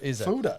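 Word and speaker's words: foeder: Fooder.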